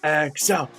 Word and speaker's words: X-el: relatable to myself and my name is so it's literally just my name backwards minus the a and then also i wanted something two syllables because if you were in this if you were an audience chanting you know excel except like that comes off the tongue nice you know it's a